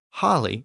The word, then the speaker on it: holy: I should also note that the word holy was pronounced holly in Old English, and that original pronunciation has survived in the word holiday, which is literally a holy day.